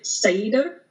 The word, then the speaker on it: Seiðr: of like uh well there's a couple different ways to pronounce it the way I choose to pronounce it is um more of the Icelandic way which is it's kind of like cider like apple cider but it's like Sider you kind of get a roll on the tongue yeah I